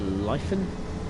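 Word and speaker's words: Lytham: the platform okay the next stop is uh lien that's how you say it it's just under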